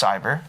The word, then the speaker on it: CIBR: grant gibson cso of cibr which is pronounced cyber as they discuss why